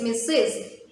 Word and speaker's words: Mrs.: that you can use to address women is missus mrs look how i pronounce this title it is mrs so you